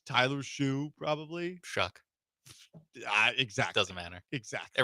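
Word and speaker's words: Shough: Shuck. Exactly. Doesn't matter. Exactly. It rhymes with suck.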